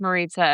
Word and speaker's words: Maritza: for everybody out there, my name's Maritza, it rhymes with pizza, but don't confuse that